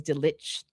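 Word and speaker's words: Delitzsch: So, uh his his um last name is Ditch. So, you can you uh can you spell that for the the non-tutonic?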